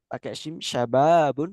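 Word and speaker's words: شباب: Tapi kalau pakai shin syababun kayak yang di bawah ini. Syabab ini artinya pemuda. Jadi kalau beda eh, syababun sama sababun. Kalau syababun pakai shin dan panjang syababun artinya pemuda. Tapi kalau sababun itu artinya sebab gitu ya.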